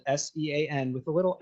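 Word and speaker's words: Seán: So the idea is that because it's spelled S-E-A-N, right? I mean, not anymore, but when I was younger, Sean wasn't as popular a name as it is right now. And you would get a lot of people that would say Cian, right? Mm-hmm. Just because if you pronounce it phonetically.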